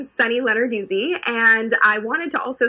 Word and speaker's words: Lenarduzzi: just so we're clear it's not lennar doozy it's not letter desi it's sunny lenarduzzi so just in case